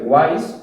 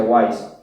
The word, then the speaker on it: Wais: con él o sea guays es el fonético de sabio en inglés que se escribe wise pero se pronuncia guays y nosotros aprovechando la